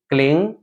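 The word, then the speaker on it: क्लीं: बाद फिर है क्लिंग उसको बहुत सारे लोग क्लीम पढ़ते हैं म लास्ट में बोलते हैं क्लीम ठीक है आपको मनन लेकर ग का उच्चारण देना है क्लिंग ठीक है नमः ठीक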